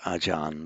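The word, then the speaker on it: อาจารย์: word as the acharya it's just in the phonetics of modern tie is just pronounced ajan but it's written as acharya and it is that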